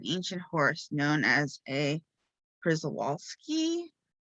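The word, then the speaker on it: Przewalski: horse known as a prizowalski i know i probably pronounce it right like i'm polish my my name ends with ski so it's p r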